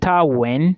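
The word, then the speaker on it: Wien: the University of Vienna in German it is pronounced as univers when when is w i e n okay and if you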